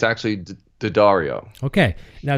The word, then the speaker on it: D'Addario: one of the questions is, how do you pronounce D'Addario? Do you tell me? Right. So everybody usually says D'Addario, but Okay. it's actually D'Addario.